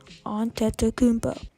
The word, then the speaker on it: Antetokounmpo: And yes, I do know how to say his last name, not that hard, Antetokounmpo.